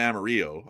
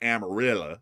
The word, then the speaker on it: Amarillo: See Well, yeah, but I mean, if you if you say the real pronunciation, like the Spanish pronunciation, it's probably Amaro. Uh, but in the in the English Anglicanized pronunciation, it's probably Amarilla.